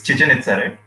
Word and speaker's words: Chichen Itza: whole heritage site if i'm not wrong the pronunciation it's chichen itza right now you nailed it totally chichen itza